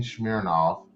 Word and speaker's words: Smirnoff: And Christine Smirnoff, and that's how you say it, was talking about doing another trilogy.